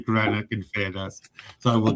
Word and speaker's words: Greenock: this, Reece, in fairness, Reece coached me on it before you went on to make sure I can say Greenock in fairness.